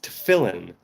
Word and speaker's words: tefillin: I assume it's spelled tefillin. No, it's tefillin.